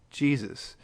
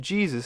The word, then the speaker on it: Jesus: pronounceable for germans and we english speakers saw their spelling and pronounce it the way we pronounce jays which we pretty much